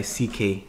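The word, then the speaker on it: Seekae: If anybody wants to spell it out for him, because it's S-E-E-K-A-E. Seek A.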